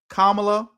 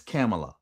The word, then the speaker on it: Kamala: I've been calling her Kamla and it's Camela D.